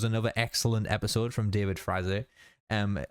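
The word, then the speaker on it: Frazee: excellent episode from David Frazer um it's pronounced David frazzy I believe that's the way Dana said it in the DVD commentary well I didn't enjoy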